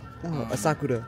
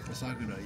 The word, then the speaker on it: Asakura: And Kai, I'm not going to say his name on camera because I'm going to pronounce it wrong. Asakura. Asakura, yes.